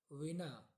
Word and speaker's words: विना: पर आता है बिना इसका उच्चारण देखिए ये हिंदी में होता है बिना और संस्कृत में लिखा मतलब विना ठीक विना जलम विना